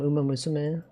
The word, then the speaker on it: Uma Musume: Thursday, Sunday, Manhattan Cafe from Uma Musume. Whoa, whale. You notice that people that don't know Japanese pronunciation, they usually say Uma Musume. The su is like extended.